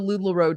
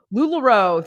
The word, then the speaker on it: LuLaRoe: how do you say it's lularoe it's the lularoe documentary lularoe thank you anna said ted bundy talk about